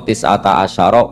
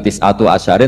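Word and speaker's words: تسعة عشر: Padahal itu jadi mubtada muakhar berarti alaiha iku tetep ing atase neroko tisata asyaro utawi 19. Tetap bacanya bukan tisatu asyarin tapi tisata asyar.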